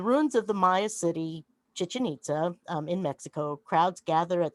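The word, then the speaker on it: Chichén Itzá: you've ever mentioned to chichen itza and when i was down there the the little guy called it he said if you want to know how to pronounce it it's much like chicken pizza so um chichi pizza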